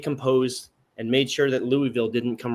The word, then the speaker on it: Louisville: there who don't know how to pronounce Louisville it's not Louisville stop it it's Louisville yeah I can't disagree